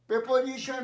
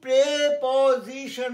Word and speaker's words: preposition: লক্ষ্য রেখে আমি বলছি প্রিপোজিশন বলিনি, প্রেপোজিশন উচ্চারণ, পজিশনের আগে, নাউনের আগে বসে সবসময়, প্রেপোজিশন, প্রিপোজিশন নয়।